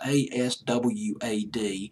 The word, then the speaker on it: Aswad: I might be mispronouncing the name of the group. It's Aswad.